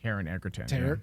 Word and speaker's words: Taron Egerton: And we're not even talking about it was, I keep mispronouncing his name, but the one who played Constantine. Taron Egerton.